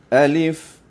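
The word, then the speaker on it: ألف: Sebutannya alif alif. Alif itu saja. Alif lam. Sempurna saja alif terus bergerak alif lam. Manakala pada perkataan lain daripada alif tuan-tuan dan puan-puan yang alif ni kita sempurnakan hurufnya a dan lif. Alif.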